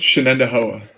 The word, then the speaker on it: Shenandoah: Shenandoah High School. That's the proper pronunciation, right? Close. Shenandoah.